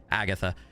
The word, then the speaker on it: Agata: Uh, it says Agata, but the name the game pronounces her name as like like there's an H there. Agatha.